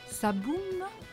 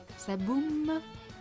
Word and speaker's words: ça boume: It's all at the front of your mouth. Ça boum. Ça boum.